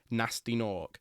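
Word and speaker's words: Gnasty Gnorc: who are imprisoned by Nasty Nork, except he has a silent G at the start of Nasty and the start of Nork.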